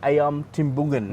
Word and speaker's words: ayam timbungan: So this here is actually the ayam timbungan, is yes, it?